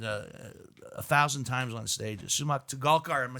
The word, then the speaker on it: Sumukh Torgalkar: So the proper is Sumukh Torgalkar.